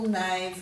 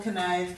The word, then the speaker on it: knave: They would have once pronounced that K, so it would have been canole, canave, canack, caneed and canapsack. It's a bit hard to say, so we've dropped the sound, but we still have